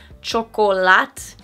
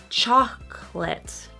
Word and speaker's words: chocolate: So again, so much stress on the first syllable that the next syllable kind of disappears. So it's not chocolate. It's chocolate. Chocolate.